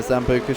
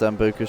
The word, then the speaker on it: sambuca: fun with some uh zamboka shots or zambuka shots that I think it's pronounced sambuca shots whenever there's a safety